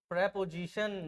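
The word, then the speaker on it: preposition: प्रपजीशन।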